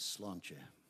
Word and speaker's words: Sláinte: it's the name of her little band is slancha and it means cheers and skull good health